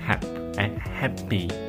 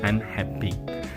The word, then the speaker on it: happy: com a palavra Happy não é rap Happy e o terceiro erro